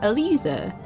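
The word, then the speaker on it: Elise: pronouncing this name um in German if you end a name with an e at the end it's pronounced like an A so Alisa it's nice it's not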